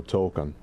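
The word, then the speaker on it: Tōkon: Tokon? Spell it. Okay, well, it's T-O-K-O-N, but the first O has a dash on the top of it. Extended O, Token.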